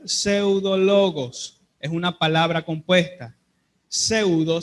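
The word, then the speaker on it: ψευδολόγος: El adjetivo que se utiliza en el idioma original para referirse a estas personas es una palabra que se pronuncia pseudologos.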